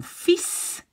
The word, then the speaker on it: fils: Mon fils. You see, you don't say the L.